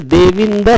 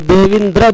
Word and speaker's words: देविंद: जैसे देविंद शब्द लिखा है तो देविंद्र बोलते हैं बहुत लोग, वो गलत है।